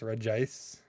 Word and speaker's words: Regice: Even though it's Reggie, it's Regice. On this one, there's no extra I.